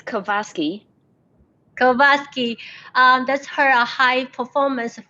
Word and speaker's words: KOVASKY: Could you pronounce it for us? It's KOVASKY.